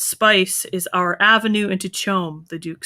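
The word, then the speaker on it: CHOAM: he's talking about the i think it's pronounced chome it's the acronym it's it's the corporate we talked about it's like the mega corporation yeah um so it says that so chum controls the spice is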